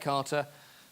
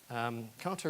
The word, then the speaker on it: Kata: Kata is pronounced in various different ways. It's a Japanese word. Some people try and make it sound a little more foreign than it is. Kata, actually, I've done some investigation. I'm very cautious about pronunciation in languages that I am not familiar with, but the best that I can get is that actually kata is closer than kata in Japanese.